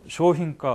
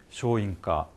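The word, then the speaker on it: 商品: 쇼힌가 어려운 거 아닙니다. 그렇지만 방심을 하면, 의식을 안 하면 쇼인가, 니홍고처럼 되어버리니까 조심을 해 주시기 바랍니다.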